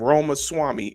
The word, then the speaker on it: Ramaswamy: and he was on the breakfast he had Roma Swami owl that's that's really how that's really how